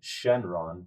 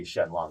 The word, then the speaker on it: Shenlong: to point this out when you study Shenron it's supposed to be Shenlong you just have that colloquial change in the pronunciation of the L to the R going from Japanese to English and so Dragon Ball